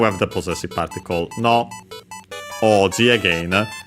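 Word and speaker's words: 王子: Oji again. I don't think I mentioned the accent of oji. Chinese compound. Accent on the first mora. Yes. So yeah. Like the second most common accent for those.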